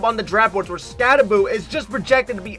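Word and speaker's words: Skattebo: that's about it cam scabo or at least I think that's how you pronounce it scaboo scabo I'm going to say scaboo cuz that's what I hear most people say easily the most underrated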